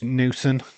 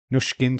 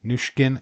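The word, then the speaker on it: Nüsken: And it's Newson. Nushkin, sorry. Nushkin is going to take it. Why do I always get a name wrong? Think of Pushkin.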